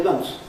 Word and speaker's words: months: dropping the th, and instead of saying months, we say months, months ago, right? Well, some people think that that's rather lazy way of saying it, but it's what people normally do. And what I do find is some EFL students want to say, simplify it, but keep the th and lose the final s. Now that's no good. But you can't say 6 months ago. That sounds terrible.